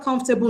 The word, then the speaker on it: comfortable: So the stress will fall on the first syllable, comf. So what is the explanation for stress on the first syllable in the word comfortable? Number 1, syllabification. Do not syllabify comfortable as 4 syllables the way we do here in Nigeria. It's not right.